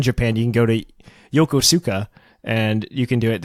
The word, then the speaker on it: Yokosuka: It's Yokosuka.